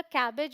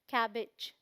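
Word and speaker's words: cabbage: क्या बोलते हैं हम ऐसे देखेंगे तो लगेगा कैबेज बोलते हैं बट प्रोनंसिएशन क्या है कैबेज कैबेज ई साउंड आएगा फिर है हमारे पास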